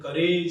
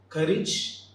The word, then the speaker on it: courage: That is courage and heritage. Often we pronounce these two terms like courage and heritage. Age should not be the N. The N should be ij. Courage and heritage.